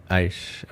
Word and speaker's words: Aish: That's how it Yes, is pronounced, right? yes. Aish.